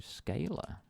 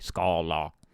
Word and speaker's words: Scala: may as well teaching look into scaler Scala sorry let me pronounce it correctly Scala but I think it